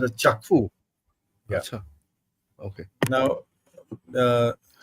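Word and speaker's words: Kyaukphyu: China Myanmar economic corridor China Myanmar economic order kaifu that's how it's pronounced it's written as kakfu but it's pronounced as chakfu yes sir okay now uh on along this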